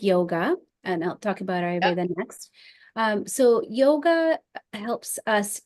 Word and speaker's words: Ayurveda: And how do you pronounce this word? Ayurveda. Ayurveda.